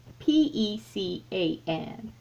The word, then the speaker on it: pecan: how do you say p-e-c-a-n i say pecan that's how i've always said give me some pecans